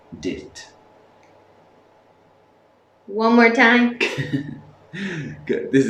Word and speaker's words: duit: So that's why Caitlin said do it because it's D-U-I-T, but it's actually pronounced dit.